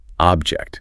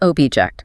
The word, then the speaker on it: object: As a noun, it's a physical thing. stress on the first syllable. Object. Object. A really clear sharp sound on the OB.